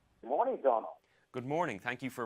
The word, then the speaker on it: Domhnall: Good morning, Domhnall. Good morning. Thank you for pronouncing my name correctly.